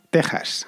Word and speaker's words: Texas: sacada del equis pero la pronunciación es con jota así que ya sabéis en español se dice méxico y se dice texas aunque se escriban con